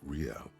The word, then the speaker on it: real: owe me 130 real he pronounces the r with a mock aristocratic accent the iir or inter isolary real is the global reserve